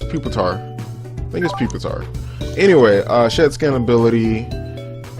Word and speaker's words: Pupitar: I've never known how to say it. I think it is Pupitar.